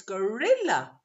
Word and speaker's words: gorilla: so some people then it's a false friend from turkish because in turkish it's kodi and it's the first syllable but in english it's gorilla so it's the second syllable the middle one and what about the